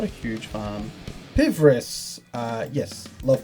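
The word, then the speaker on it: Pvris: Pivris, yes, love Pivris. Pivris are great, that is how the name is pronounced.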